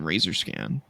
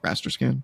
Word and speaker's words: raster scan: It simply outputs a zero signal when it sees the television razor scan. Is is that how you say it? Raster scan.